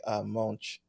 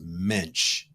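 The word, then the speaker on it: Moench: A character I am very fond of, and whose 1970 series by Doug Monch. Is it Monch? His name is actually pronounced Mensch, Mensch.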